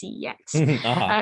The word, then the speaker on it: CeX: Well, it's pronounced sex, but I like to say it's CEX.